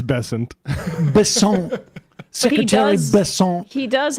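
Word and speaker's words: Bessent: Is it Basant? Is that how we say his name? It's Bessant.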